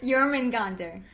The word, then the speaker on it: Jörmungandr: Jörmungandr, oh my god, tell me how to pronounce it again. Jörmungandr.